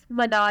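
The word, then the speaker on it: Manal: अगला नाम यह मनल है।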